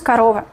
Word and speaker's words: корова: корова, allí, y cuando el acento cae, ¿sí? Tenemos la sílaba tónica. Esta sílaba la pronunciamos con mayor fuerza y también O suena como O. Otras O nosotros pronunciamos con menor fuerza, menor calidad y menor cantidad. Entonces O ya no es O, sino pronunciamos A. Sería корова.